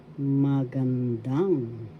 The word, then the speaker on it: magandang: And we have magandang araw. Good day. First syllable ma, second syllable gun, third syllable dang. Magandang. The third syllable has the accent magandang.